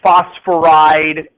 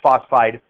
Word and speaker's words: phosphide: It's not phosphoride. You might think it could be phosphoride because we just got rid of one syllable on the end of the others, right? You see what I mean? But it's not. It's phosphide.